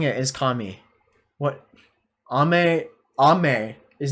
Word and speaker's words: kami: have like a lot of questions kami is pronounced kami i am saying it is kami what ame ame is not kami ame is